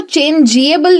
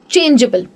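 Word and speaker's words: changeable: तो मैं उसको चेंजेबल नहीं बोलती हूँ, मैं कहती हूँ चेंजेबल।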